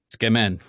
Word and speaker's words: tsukemen: You couldn't even pronounce that properly. Tsukemen. Tsukemen, right?